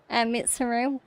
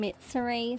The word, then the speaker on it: Mitsuru: I keep getting her name wrong. I think it's because there's a character in Demon Slayer with the first name Mitsuri, so I keep thinking Mitsuri Kanmerji in my head.